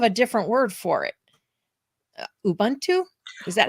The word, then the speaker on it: Ubuntu: know you have a different word for it Ubuntu is that how you pronounce Ubuntu yeah so because I know you often say